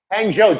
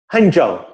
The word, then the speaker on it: Hangzhou: Hangzhou just says, "Do you know how many Chinese people admire your mustache?"